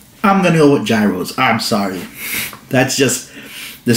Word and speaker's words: gyros: it wrong because everyone always complains about i pronounced gyros i cannot win it's gyros euros or giros i've heard so many different pronunciations i'm gonna go with gyros i'm sorry that's just the standard here in